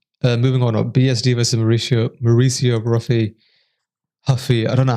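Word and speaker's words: Ruffy: Moving on, BSD versus Mauricio Huffy. I don't know how you say it. Apparently the R is silent if you're in Brazil.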